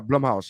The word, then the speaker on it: Blumhouse: The Blue Blumhouse. Yeah, Mouse Studios? Blumhouse. Yeah, Blumhouse. Yeah, Is it Yeah, Blumhouse. is it Blue House or Blumhouse?